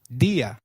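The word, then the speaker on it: día: an accent in Spanish if a word is marked with an accent then that syllable receives the stress so try saying dia again dia third morning is therefore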